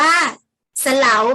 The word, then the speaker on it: เสลา: ให้ ดี นะ คะ จะ เขียน เหมือน กัน แต่ อ่าน ไม่ เหมือน กัน ค่ะ ทำ นี้ นะ คะ เรา จะ อ่าน ว่า สะ เหลา คะ เด็ก ๆ เสลา